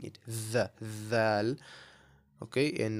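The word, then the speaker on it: ذال: The next letter we have is dhal, right? So the th in the word the, right? The heavy th is very similar to the pronunciation of dhal, right?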